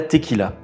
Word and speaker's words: tequila: Comment fait-on la tequila ? Et bien, je vous explique ça tout de suite. Tout d'abord, la Tequila se prononce elle tequila en espagnol et vient de la ville de Tequila dans l'état de Ralisco.